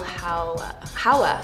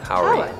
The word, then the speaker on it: Howery: C, Lil Rel Howler. Howery. Howery. They didn't spell it the same, right?